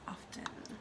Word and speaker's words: often: miss pronouncing words like often when the tea's supposed to be silent often if the tea wasn't supposed to be there it wouldn't be there it's often that's the English language